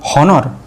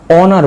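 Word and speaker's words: honour: ও ইউ আর হনর এখানে এইচ টা silent হয়ে যাবে বা এইচ টার উচ্চারণ হবে না এইচ দিয়ে ওয়ার্ডটা শুরু হয়েছে কিন্তু এইচ এর উচ্চারণ হবে না তাহলে আমরা কি বসাবো হনার বলবো না অনার বলবো অনার অনার অনার তাহলে এখানেই কনসেপ্ট এইচ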